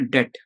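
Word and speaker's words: debt: relation किस होता है बी क्या है बी इस साइलेंट तो हमें क्या बोलना है डेट इसको क्या बोलेंगे और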